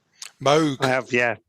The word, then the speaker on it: Moog: Did I pronounce that correctly? Moog.